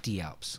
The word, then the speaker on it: Die Alps: It's called Die Alps, but it's pronounced D Alps because the Alps or whatever, German.